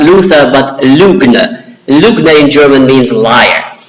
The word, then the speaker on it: Lügner: him not Luther but Lügner. Lügner in German means liar. So it sort of rhymes, Luther, the Lügner, in German it rhymes, and that's sort of very insulting.